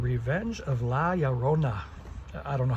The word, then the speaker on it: La Llorona: And the last one is called Revenge of La Llorona. I don't know how to pronounce that. I think Spanish double L, you roll it, and I don't have the rolling tongue, but it's La Llorona, or I don't know, La Llorona.